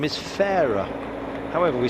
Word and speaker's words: Farrar: how it's pronounced that's how he wants it pronounced and then there's others like um uh Tyler Farrar we've been calling him Farrar for ages and and in fact it's a